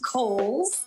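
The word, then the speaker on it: Cowles: much it is pronounced kohl's uh george cole was a an early land owner developer out in the east county area so holes mountain like the department store and backed by popular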